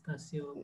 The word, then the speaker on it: Tasub: Am I pronouncing your name right? Yeah, it's going perfectly all right. Yeah, Tasub, right? Tasub. Yeah, it's Tasub.